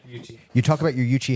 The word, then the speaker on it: Yuchi: Yuchi, that's proper pronunciation? Yeah, Yuchi.